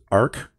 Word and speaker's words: Arq: and personally I use ARC um arq is how that's spelled um and I have